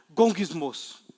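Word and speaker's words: γογγυσμός: A própria palavra grega, o som, a pronúncia da palavra grega para murmuração é um gesto que balbucia a forma de resmungar.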